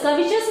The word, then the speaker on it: covetous: Covetous means greedy. C-O-V-E-T-O-U-S. We pronounced it as covetous.